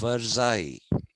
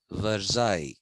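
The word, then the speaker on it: Versailles: people marched from Paris to the Palace of verai it's written veres v e r s a i l l e s veres it is written but it is pronounced verai and on the way they were passing the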